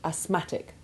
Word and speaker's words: asthmatic: But note that the th remains silent in asthma and asthmatic.